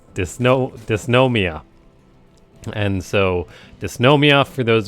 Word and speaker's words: Dysnomia: best pretty much I I always say it's name wrong it's DN dysnomia and so dysnomia for those of you that